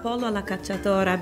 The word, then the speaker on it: pollo alla cacciatora: I chose pollo alla cacciatora because That's great pronunciation.